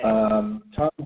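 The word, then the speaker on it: Thom Hartmann: It's spelled Thom. And his last name is Hartmann. I think he has two N's at the end of his name. Okay. Tom Hartman.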